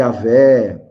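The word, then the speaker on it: Yahweh: pronunciar né a que hoje nós falamos e aveh chamamos de várias várias formatações Jeová que não é uma fala muito adequada então acontece que o nome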